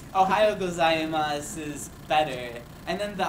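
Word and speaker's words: おはようございます: this this one is Ohio gas you don't you don't pronounce the you at that so it's just MOS sometimes they do in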